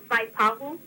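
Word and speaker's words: Waipahu: But it wouldn't be right to say like Vaipahu. You can. You can. People go look at you a little bit strange, but you're saying it right.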